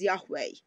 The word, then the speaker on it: Yahweh: is my name forever we pronounce that as Yahweh um Allah was one